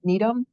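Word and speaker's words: Gnetum: still left the Needum the g is silent Needum aedra and well wiia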